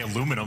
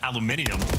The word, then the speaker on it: aluminum: But NEM Americans say aluminum rather than aluminium just because we don't want to give them too much credit.